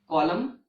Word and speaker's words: column: but in these words the letter n is silent and you have already seen the examples like autumn column damn him okay so these